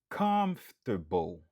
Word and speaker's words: comfortable: Comfortable. Comfortable. Qui signifie à l'aise, confortable. Li gagne 3 syllabes. Nous accentuer sous premier syllabe.